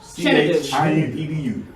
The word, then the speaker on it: Chinedu: And you pronounce it Chinedu. Chinedu.